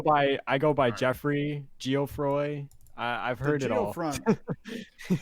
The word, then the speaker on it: Geofroy: that was like the pronounciation with the G most people at least in the state we call we say Joffrey okay yeah yeah definitely